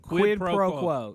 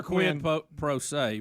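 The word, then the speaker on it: quid pro quo: Quidd proquo. Quid proquo. I always want to say quid pro. I don't know. There's also quid proay.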